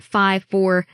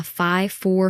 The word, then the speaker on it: Phi-4: Um, and that's I think part of what makes it so hard to pronounce is there was 53 and then it almost sounds like you're saying five, but um yeah, you're right.